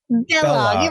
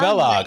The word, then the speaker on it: Balogh: Balogh. It rhymes with Kellogg. Balogh.